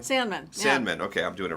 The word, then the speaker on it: Sandmann: Sandmann.